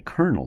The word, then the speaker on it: kernel: called the the kernel not like kernel in the Army but it's spelled differently kernel the kernel of a